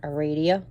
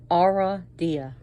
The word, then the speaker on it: Aradia: be on our idea she is pronounced in different ways people like to pronounce her aradia i did that first too are eradia or is more like aura dia and i'll get into the fact why i do that but we have our